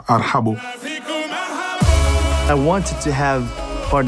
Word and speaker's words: ارحبو: Ils n'arrivent pas à prononcer, ils disent arbo, arbo. Arbo parce que c'est difficile pour un Français de dire arhabo.